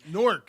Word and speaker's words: Newark: I had to teach a Philadelphian how to say it like that.